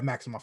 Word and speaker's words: Maximoff: wanda maximoff and i think her name is maximoff i think it's how you pronounce it i could be wrong i think so regardless actually i'm gonna yeah maximoff is correct uh and her can we call